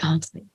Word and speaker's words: Henri: Henri. The French spelling, that's right. Henri. How do you say it if you're French? How do you say it?